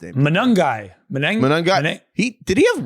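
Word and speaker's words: Monangai: Manungai.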